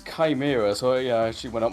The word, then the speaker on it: Chimera: How do you pronounce that? Chimera. Uh yeah. I mean it's Chimera. I mean we I like we double check. We're like you said he's part of the Shimera Institute and we were like both like uh